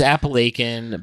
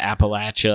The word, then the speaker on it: Appalachia: I Appalachia I I I read the proper pronunciation but I still I can't do it it's well you know it's appalachin but Appalachia also it's PR interch and when I